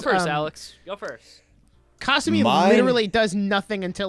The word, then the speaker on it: Kasumi: So the game says Kasumi, which is wrong. I've always said Kasumi. Yeah, That is because factually wrong. the actual correct pronunciation is Kasumi.